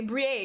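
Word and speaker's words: Briere: was a kid-sized Danny Breer Flyers jersey okay Brie excuse me you thought I pronounced his last name Bray I'm sorry I'm actually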